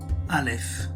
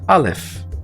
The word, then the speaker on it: aleph: click on show answer alif alef and notice that for the pronunciation or transliteration of this one it's either aleph or notice it's got a